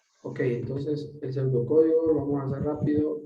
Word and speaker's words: pseudocódigo: Fíjense bien, la palabra pseudocódigo, jóvenes, lleva una P antes de la S. No se pronuncia, pero se utiliza. Ok, Ok, entonces el pseudocódigo lo vamos a hacer rápido.